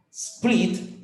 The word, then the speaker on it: split: Split, split, split. Ojo, no me pronuncien es antes de las S, no me digan split, por favor.